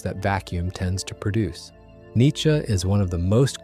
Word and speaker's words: Nietzsche: Nietzsche is roughly how you say it in German, though the English version has developed its own stubborn persistence, who lived from 1844